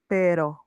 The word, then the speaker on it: pero: Okay, the R here is not going to have a strong pronunciation. It's more weak. It will be pero mees pero. If you say pero, if the R sounds very like very like strong here, you will say the word dog and we don't want that.